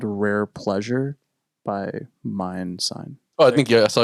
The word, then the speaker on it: MNDSGN: His name is Mindsign, and it's spelled MNDSGN.